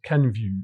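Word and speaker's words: Kenvue: Ken view. It's like view v view v view v v view v view as in French. The French view.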